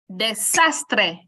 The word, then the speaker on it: desastre: Desastre.